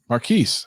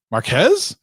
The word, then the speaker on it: Marques: goes yeah I go hey guys its Marquis I'm like marques he goes yeah I'm like oh well you must not know him that well because you don't know how to say his name you must not be